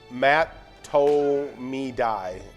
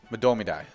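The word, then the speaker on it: Mahtomedi: common mispronounce is um mat toe me dai so you're kind of close to that okay the actual pronunciation is die domidai madomidai yeah no mats to toes involved okay madomidai that's not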